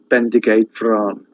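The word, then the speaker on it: Bendigeidfran: That's Bendigate Bran, or Bran. The Welsh don't, when they pronounce their vowels, they don't diphthongize, which means they don't.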